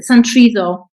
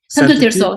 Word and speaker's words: Santo Tirso: But so there is a case, San Triso, near Porto. Did you hear about it? Where there was a big fire near Santo Porto? Tirso? Santo Tirso. Sorry, yeah, that's it.